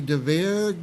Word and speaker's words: DeVere: the Val and Roddy DeVere Gilded Age series. Yes. Now, was I close in the pronunciation? That's absolutely right.